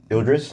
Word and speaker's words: Idris: Eldridge Ela. Idris Ela. Ildris.